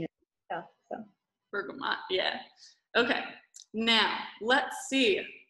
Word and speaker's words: bergamot: So I know how to spell it all, but the pronunciation is tough. So bergamot, yeah.